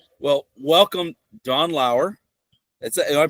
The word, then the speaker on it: Lauer: Well, welcome, Don Lauer. Am I pronouncing that correctly?